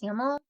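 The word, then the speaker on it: Hamel: kind of a spoiler haml is pronounced haml yes yeah that's a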